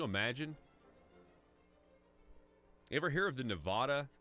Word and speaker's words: Nevada: ever hear of the Nevada I'm sorry they pronounce it Nevada up there you ever